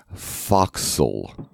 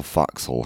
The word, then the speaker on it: forecastle: and then again spoil foxhole hands foxhole or I'm thinking I'm pronouncing that correctly is a very bastardized bastard Wester to digitize it's short for forecastle and the forecastle is